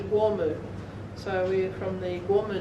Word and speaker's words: Kooma: Call it Kooma, but the proper pronunciation is Wormu.